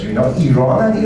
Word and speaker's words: Iran: If they say Iraq and Iran, just turn off the TV and run as fast as. Even politicians, they cannot pronounce these two countries correctly. It is Iran and Iraq, not Iran and Iraq.